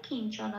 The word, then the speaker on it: কিঞ্চন: শব্দটা পেলাম কিঞ্চনা। তাহলে এই পাঠে সংস্কৃত উচ্চারণ পেলাম ত্রিষু লোকেষু কিঞ্চন।